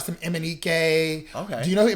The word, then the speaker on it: MNEK: Love, and his name is Emanike. It's spelled just the way it sounds. Like it's not Mnek or something weird like that. Emanike.